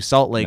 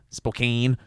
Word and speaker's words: Spokane: Salt Lake, perform the next night, go to Spokane (pronounced correctly), Spokane (pronounced incorrectly).